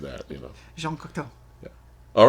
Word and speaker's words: Jean Cocteau: You have to say it like that, Jean Cocteau.